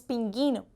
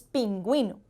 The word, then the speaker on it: pingüino: Entonces, cuando vemos esos dos punticos allí, sabemos que tenemos que pronunciar la U en esa sílaba. No son muchas palabras, ya de antemano podemos ir diciendo, pero miren, por ejemplo, cuando tenemos la palabra pingüino, en esos casos lleva la diéresis y pronunciamos de esa manera, no decimos pinguino, decimos pingüino.